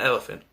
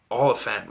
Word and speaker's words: Olyphant: Not Elephant. Oliphant, whatever you pronounce it.